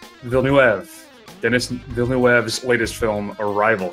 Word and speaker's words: Villeneuve: I had it spelled out phonetically. You ready, Matt? Right. Villeneuve.